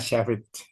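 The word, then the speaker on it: Shafritz: Tuh ini sa dan saf dan menulisnya saf itu adalah SH SH A F R I di di TZ. Jadi sfri gitu ya. SFR sfrit dibacanya shfrit shfrit.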